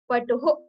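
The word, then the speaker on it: पटुः: So again, like you do not have to put too much pressure on the last letter H. But you have to consider pronouncing it like Patuhu.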